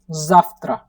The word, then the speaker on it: завтра: Tomorrow is nothing but Zaftra.